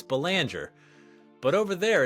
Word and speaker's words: Belanger: my last name it's banger but over there it's pronounced belong right it is a French name even though my family's been here for like four generations now sure um but I'm